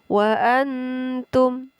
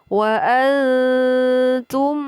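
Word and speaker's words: وَأَنْتُمْ: Cara membacanya wa antum, tidak boleh wa antum, akan tetapi wa antum zalimun.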